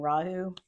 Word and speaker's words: Rahu: viic astrology you call them a K2 and rahu K2 is the South node if you want